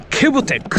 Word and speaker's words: kebtek: ケブテックって読むんですね。